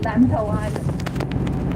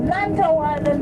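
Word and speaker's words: Lantau Island: about it lantto lanto lanto in C is a very strange pronunciation l means broken broken the chi okay broken head l to to is your head lant lant it's like a broken head or chip head so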